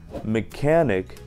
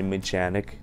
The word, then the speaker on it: mechanic: Когда буквы CH не всегда произносятся как Ч, а в некоторых случаях как К. Как в словах, например, mechanic, а не mechanic.